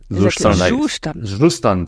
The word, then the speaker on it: Zustand: React Query, Astro, Zustand, which is not pronounced Zustand, but it's a German word. How is it pronounced? Zustand, simply.